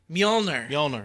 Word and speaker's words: Mjolnir: Mjolnir, yeah.